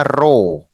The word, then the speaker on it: rho: Nah, yang ini itu bacanya row ya, row atau artinya massa jenis.